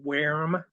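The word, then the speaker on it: Würm: It's pronounced worm. Oh, the umlaut. Yeah. So you don't say worm. It's worm. Like wear 'em out. Well, if it's German, it's worm.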